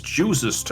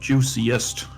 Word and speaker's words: juicest: the Hall sneaky sneaky also it's juicest and not juiciest oh yeah juices you